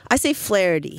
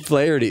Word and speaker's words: Flaherty: I say Flaherty. Flaherty. That makes like some people say sense. Flaherty. Flaherty.